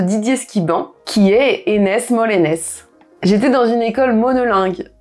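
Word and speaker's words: Molenez: Donc on va vraiment parler de Molène maintenant, qu'on prononcera Molenes à Molène.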